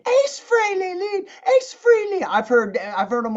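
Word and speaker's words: Frehley: think even Paul Stanley said ace fre lead Ace Freely I've heard I've heard them all say Ace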